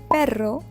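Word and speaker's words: perro: Pronunciation of single R and double R is a challenge for many students. I know. For example, if you say pero which means but instead of pero which means dog, you might confuse the native speakers.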